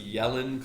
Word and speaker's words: Yellen: your voice down so that's the yellen clue um the bad jokes but you know that's hopefully you come here for this there's a picture of her um it rhymes with ellen i would have expected